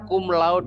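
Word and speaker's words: cum laude: halusnya accumulo the gitu bukan comlud lemas ya bacanya kumlaud deh kita Natasha ayunan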